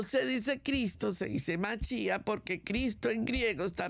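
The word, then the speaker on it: מָשִׁיחַ: la palabra correcta es Mesías en español o machía en el hebreo pero pero esto es sumamente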